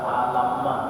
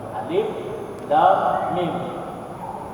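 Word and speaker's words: الم: Para ulama mengatakan, ya, pengucapannya, penyebutan huruf-huruf hijaiyah itu ya, jadi bukan dibaca alamma, ya, alif, lam, mim.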